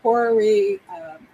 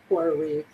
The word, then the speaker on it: horary: Horoscope, horary. Different people pronounce it differently, but I pronounce it like horoscope, horary.